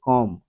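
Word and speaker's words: comb: অথবা অনুচ্চারিত হিসেবে থাকে শব্দের শেষে বি এর পূর্বে এম থাকলে বি অনুচ্চারিত থাকে যেমন সি ও এম বি উচ্চারণটি হচ্ছে কম বি ও এমবি বম এল এমবি ল্যাম এখানে প্রতিটি শব্দে বি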